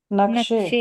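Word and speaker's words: نقشه: हिंदी हिंदुस्तानी भाषा उर्दू भाषा में वो छोटी का प्रोनाउंसिएशन अलीिफ की तरह होता है। तो नक्शा हो जाता है वो।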